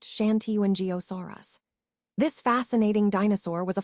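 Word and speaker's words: Shantungosaurus: Let's take a closer look at Shantenosaurus, which is pronounced Shanti and Giosaurus.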